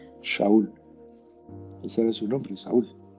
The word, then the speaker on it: Saúl: el rey Saúl, pero él se llamaba Saúl y se pronuncia Shaul.